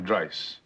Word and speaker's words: Dice: Dice. Rhymes with price, which is currently 70 bucks an hour, four times a week.